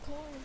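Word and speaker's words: Quorn: Q U O R N. Like corn. It's corn.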